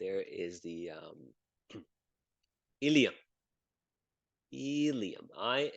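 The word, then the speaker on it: ilium: there is the there is the um helium helium i l IU M and this is where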